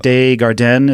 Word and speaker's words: Desjardins: But, I mean, I think Patrick Desjardins is how you say his name.